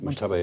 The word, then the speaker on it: Mojtaba: Mojtaba. There you go. You've got much better pronunciation than me.